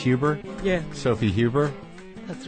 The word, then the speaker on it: Huber: Dean Stanton so your last name is pronounced Huber yeah Sophie Huber that's right and you directed